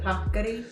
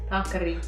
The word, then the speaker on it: paccheri: $1 million to anybody who can say this one, how it's pronounced. How you doing again? Paccheri. Paccheri? Say it again. Paccheri.